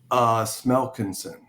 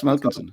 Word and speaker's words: Smelkinson: Smelkinson. Yeah. It's as you read it, Keith. Smelkinson, buddy. It is Smelkinson, yeah.